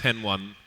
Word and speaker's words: Hen1: I spoke to him the other day and said, "How would you like us to say your name?" And he said he likes Hen1, he likes Henny, and